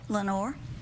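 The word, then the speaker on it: Lenoir: time mm-hmm what's goal Lenore Lenore mm-hmm like in the poem like in yeah the Raven Lenore it's not spelled the same way French its French hmm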